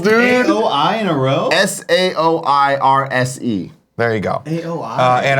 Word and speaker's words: Saoirse: Saoirse Ronan, I think is how you say it.